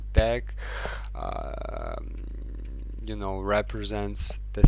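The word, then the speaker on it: deque: can solve this problem using deck you know pronounce like deck so we can say deck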